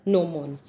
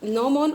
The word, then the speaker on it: gnomon: G is silent over here, it's called as gnomon. So what gnomon always faces towards the north-south direction.